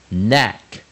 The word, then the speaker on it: knack: hack， hack，首音 J， jack， jack，首音 KN， knack， knack。当然我们知道 K 加 N 的时候 K 是不发音的，所以就念 knack， knack。首音 L， lack， lack。首音 P， back， pack，首音 Q， U， quack， quack。